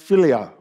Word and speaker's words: philia: as follow that follows the first part is pronounced philia and it is one of several words for